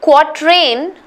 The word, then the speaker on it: quatrain: break up of this there's no either in between it's just quite rain quat rain that's it and the